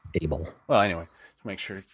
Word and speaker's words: Able: all that stuff Whitney AEL Whitney AEL you said AEL it's it's spelled a e so I assume it's able well anyway to make